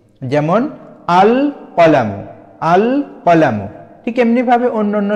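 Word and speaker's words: القلم: আল তাহলে সমান সমান আল কলামু এই যে এখানে লাম হরফটির উপরে সাকিন দিয়ে লাম হরফটিকে স্পষ্টভাবে আমরা উচ্চারণ করছি যেমন আল কলামু আল কলামু ঠিক এমনিভাবে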